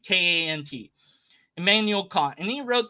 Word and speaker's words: Kant: I don't know so however you want to pronounce it k k I don't know he's a German German name k a n t Emanuel Kant and he wrote this big old